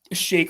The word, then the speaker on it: Shake: by the way my my last name is pronounced shake like milkshake So Ready Player H